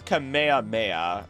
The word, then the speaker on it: Kamehameha: even like you pronounced uh I'm going to mispronounce it again. Kameha- Kameha- Kameha- it's Kamehameha.